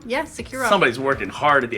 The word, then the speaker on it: SecuROM: Securom? Yeah, Securom.